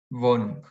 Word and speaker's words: Wohnung: wenig, A veces NG al final se pronuncia como NG, otras como NK. Wohnung.